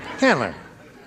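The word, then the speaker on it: Candler: l e r oh canler oh yeah can canler how many people there well if anyin nobody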